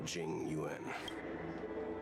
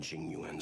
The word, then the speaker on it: Jing Yuan: I think we only scratched the surface of this General Jing Yuan. Genuine. Okay, so at least this is easier to pronounce than most. Genuine. I'm not saying it correctly, but it's pronounced like genuine.